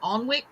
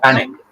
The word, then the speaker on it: Alnwick: Oh, is that did I say that right? Probably not. Alnwick? Alnwick? Anik, Anik, Oh, Anik. one of those silent letters, huh?